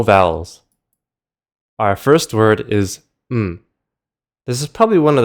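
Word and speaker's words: 唔: It's literally just a "m" sound with a low falling tone.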